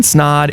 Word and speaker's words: Snaadt: This is Snaadt, It Rhymes with Odds, signing off, and I'm out.